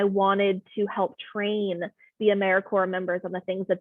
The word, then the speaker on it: AmeriCorps: AmeriCorps is alive and well, just spelled with a silent P. So think of Apple Core or Core of the Earth.